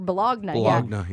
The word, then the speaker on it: bologna: No, I think they call it bologna. Some places do. Yeah, we call it or bologna.